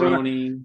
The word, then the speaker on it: Cerrone: I would write in parentheses like SIR-OWN.